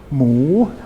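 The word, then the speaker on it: หมู: word for pork and it's got this whole heap at the beginning which is silent and that that's only to give the word a high class initial consonant and a rising tone Mo pork sa s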